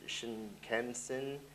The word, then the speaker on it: Shinkansen: And this is the Japan's fastest train, the 500 series Shinkansen, that's how you say it, operated by West Japan Railroad Company, capable of 320 kilometers per hour, 200 miles per hour.